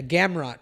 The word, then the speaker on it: Gamrot: guard uh what is it gunblock help me pronounce that schmo matthias gamrat yeah gamrot yeah maybe camera was is not the slickest